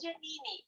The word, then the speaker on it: Janine: Yeah, Maya, I think they can mispronounce, but in Brazil, even since I was a child, it was such a disaster. It's Janaíne, Janine, Janaíne, Jaina. It's never. But it's Janine.